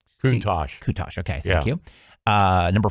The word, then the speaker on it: Countach: I don't know how to pronounce this. Countach. Countach.